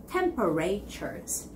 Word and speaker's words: temperatures: alright its temperatures temperatures now this sound is produced because of the stress that goes on the first syllable which is 10/10 and the other sounds following after that is sort of like all mushed up together so it's temperatures temperatures not temperatures that's wrong okay so repeat after me